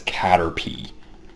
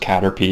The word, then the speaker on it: Caterpie: as Caterpie uh I I know it's pronounced Caterpie because I've seen clips of the show I've never actually seen a full episode of the show and I I know they pronounce it as Caterpie but I remember kids